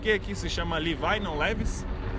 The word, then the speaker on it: Levi's: Levi's. Levi's. Então o nome do cara é Levi pra gente, mas em inglês o nome Levi é Levi. Logo a marca que vai estar aqui é Levi's.